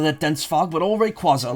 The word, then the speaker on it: Rayquaza: Rayquaza, which Pokemon had to go out of their way at Worlds this year to clarify. It is pronounced Rayquaza, not Rayquaza.